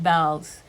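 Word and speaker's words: Bealls: And then I started loving um this store called They call it Bells.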